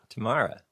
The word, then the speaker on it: Tamara: And then I was like, oh, it's like saying tomorrow, but Southern. Tamara.